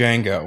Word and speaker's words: Django: The Django. Yeah. Dead Django. The D is silent.